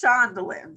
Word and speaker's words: Shandowlyon: that would be great so it's shondaland so think about violin and put a shonda in front of it so it's time yeah